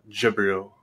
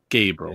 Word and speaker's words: Gabriel: there it is, Lord Jabril or Gabriel. Gabriel. Yeah, I just like saying Jabril. I know it's not how it's said.